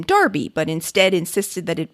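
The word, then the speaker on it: Enroughty: family with their names spelled in rufty but pronounced darby in virginia though they offer yet a new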